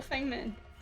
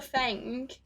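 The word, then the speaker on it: Feng Min: No, I'm saying it properly. That's it. Fuck it. It pisses me off every time. I swear. Every time I say her name, I'm like, I feel like I should say it right. Everyone calls her Feng.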